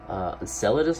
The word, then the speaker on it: Enceladus: the third moon we'll talk about this is Enceladus I believe it's pronounced so Enceladus could not be more opposite